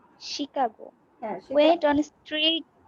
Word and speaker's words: Chicago: শিকাগো, এটা হচ্ছে শিকাগো, উচ্চারণটা হবে শিকাগো। Chicago.